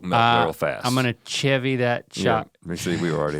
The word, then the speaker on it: Chevy: they S I think it's pronounced Chevy well it ain't a s it's a CH last time I saw